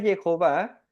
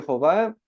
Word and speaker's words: Jehová: Y tenemos Ye como la primera sílaba, Hov, la segunda sílaba y A, la tercera sílaba.